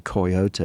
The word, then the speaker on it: coyote: They were largely hearing the Spanish pronunciation, the three-syllable version, coyote.